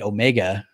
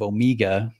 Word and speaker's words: Omega: Well, I'm a heathen here in the Western United States, so I say Omega instead of Omega.